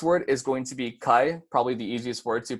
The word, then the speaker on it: kai: Kai is basically short and easy to pronounce. If you guys want to try and pronounce it with me, it's just kai.